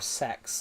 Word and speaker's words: CeX: UK called this uh CEX or sex as they the shop actually pronounces it.